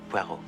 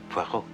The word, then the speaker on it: Poirot: Po. No, no, no. Puero. It is pronounced Puero.